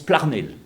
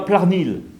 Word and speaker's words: Plarnel: Hein, en breton, actuellement, on prononce Plarnel. Donc, on ne dit pas Plarnil. Ça n'existe pas. C'est bien Plarnel.